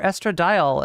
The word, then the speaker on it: estradiol: And then from testosterone through the use of a an aromatase enzyme to estradiol or estradiol as it's correctly pronounced.